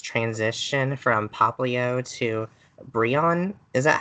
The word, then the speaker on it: Brionne: And then I felt like its transition from Poplio to Brionne, is that how you say its name? Brionne, yes.